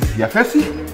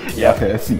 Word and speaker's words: Yafesi: My name is Yafesi. Nice to meet you. Yes. Yafesi. Yeah. 3 syllables.